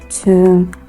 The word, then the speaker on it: tomb: These words have the final B sounds silent, so they are not pronounced. You have words like comb, womb, tomb, and so on and so forth.